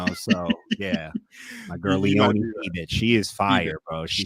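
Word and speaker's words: Fiebich: I'm pretty sure it's pronounced Feebitch.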